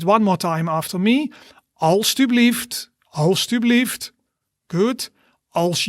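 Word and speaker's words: alstublieft: all right repeat one more time after me all stu believed all stu believed good else you believed als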